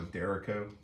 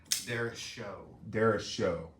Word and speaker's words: derecho: Did we ever figure out that did somebody else agree it was called a Dericho? Derecho. Derecho. Something like that. It was stated you were pronouncing it wrong.